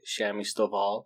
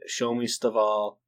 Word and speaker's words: Shami Stovall: I said Shomi Stovall, and then I looked at the covers after I posted it and I realized, hey, that says Shami Stovall.